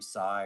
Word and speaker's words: Sai: You know, my name Sai rhymes with high, and I've I've worked my way through 10 years of high puns.